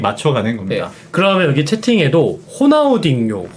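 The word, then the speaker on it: Ronaldinho: 나중에 조금씩 조금씩 맞춰가는 겁니다네 그러면 여기 채팅에 호나우딩요 호나우지뉴 이러는데 어떤게 맞는 겁니까 제가 어렸을 때는 호나우딩요가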